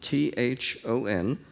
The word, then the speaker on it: thon: And he proposed thon, T-H-O-N, which he announced in a literary journal in 1884, was a blend of that and one. He even told us how to pronounce it, thon.